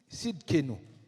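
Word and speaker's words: Tsidkenu: Il y avait Sidkenu. Ça s'écrit T-S-I-D-K-E-N-U.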